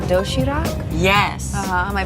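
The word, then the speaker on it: 도시락: It's called doshirak. Yes. Am I pronouncing that right?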